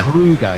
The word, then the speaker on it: Kruger: Kruger, yeah, Kruger, like the national park in South Africa.